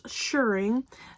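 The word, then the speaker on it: shirring: and this one features shuring thank you Michelle for helping me pronounce it I will always think of shearing now for the Sheep not for sewing so for the shuring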